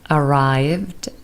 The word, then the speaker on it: arrived: and hear the answers arrived Ed is pronounced with de arrived visited Ed is pronounced